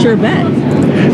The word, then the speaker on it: sherbet: was with this one it's sherbet sherbet it's sherbet I bet you didn't know that I didn't know that either but all of America pronouncing it improperly all right sir what's